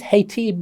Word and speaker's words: Haiti: Let me tell you the story of I never know how you pronounce it, H-I-T-I, is it Haiti? Is it Haiti? Haiti.